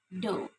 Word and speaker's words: do: For example, as in the word do, which should be pronounced do, but is pronounced to by the learners. No, the correct one is do, even though, like this.